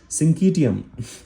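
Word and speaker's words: syncytium: Pronunciation कैसे है ना? सिंकीटियम सिंकीटियम इन प्लांट्स।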